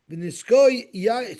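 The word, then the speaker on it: ונסכה: V'niskoi, so it's spelled with a hey v'niskah, but we pronounce it v'niskoi yayin revi'asin.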